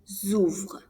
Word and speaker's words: ouvrent: J'ouvre, tu ouvres, il, elle, on ouvre, nous ouvrons, vous ouvrez, ils, elles ouvrent. Remember that the pronunciation is the same for the singular pronouns and the plural they.